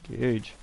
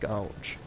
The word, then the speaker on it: gauge: Gauge. Why do I keep saying gouge?